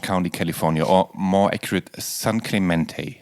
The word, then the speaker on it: San Clemente: So let us start in Orange County, California, or more accurate, San Clemente. That's how it is pronounced correctly, San right? Clemente, yes. San Clemente.